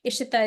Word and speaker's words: Ishita: Ishita is the way that it's pronounced when in Hindi, and it actually means manifestation of God.